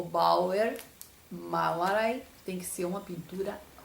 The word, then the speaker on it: Bauernmalerei: Foi o Bauernmalerei, que é uma palavra composta, tá? Formada, então, por Bauern, até o N, que a gente não pronuncia assim quando fala rapidinho, né?